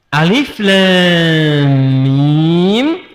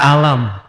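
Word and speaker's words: الم: Alif lam mim sampai sekarang masih alif lam mim tidak pernah dibaca alam ya kan.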